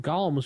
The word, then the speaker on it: Golem: from Gollum or Golems Golem not Gollum sorry gollem golum is the same thing it depends on how you pronounce but Golem go Golem potato potato I we had that long time go discussion with Jason how to pronounce that anyway it's Golem Golem it is Golem I would have to